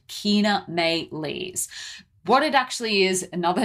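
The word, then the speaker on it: Chaenomeles: how to pronounce it it's it's spelled c-h-a-e-n-o-m-e-l-e-s and that is pronounced Kina Mae leaves what it actually is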